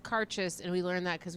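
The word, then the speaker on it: Càirdeas: the a has an accent but it's it's pronounced carchest and we learned that because we went to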